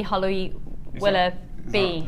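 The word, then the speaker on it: Holly Willoughby: Can you send this morning and then I can come and be Holly Willa B is how you say her name.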